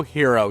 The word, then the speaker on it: Hiro: cutscene with our hero, Hiro. Yes, his name is Hiro, and pronounced just like the one with a cape.